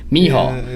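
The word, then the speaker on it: Michał: You look at Miguel, however you say his name, Mihal. Yeah, So the C and H are like, or the C is like silent.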